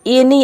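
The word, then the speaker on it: any: तो यहाँ पे आपको समझना है कि अगर किसी वर्ड के शुरू में अगर ए के बाद एन आ रहा है तो वहाँ पे ज्यादातर आपको ए को ए प्रोनाउंस करना है।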